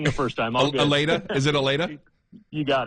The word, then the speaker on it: Allata: Aleta?